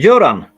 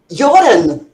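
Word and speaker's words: Göran: here yuran s uhuh how do you pronounce his first name uh yoran joran I always said Gan but that's that's understandable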